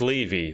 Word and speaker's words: Levy: So Grace has said Levy. Okay, Levy. So it's Levy.